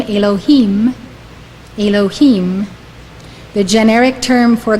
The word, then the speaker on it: Elohim: usually yudhave of hey is pronounced Adonai meaning Lord when associated with Bina it is pronounced Elohim Elohim according to Rabbi green